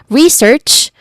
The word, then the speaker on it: research: Research starts with re, the stressed vowels, not vowel, the stressed syllable sound, which has a short and relaxed e vowel sound, followed by search. Again, search, still. It starts with a hissing sound and ends with the sound that ch makes, or ch. Search. It has a long e vowel sound. Research.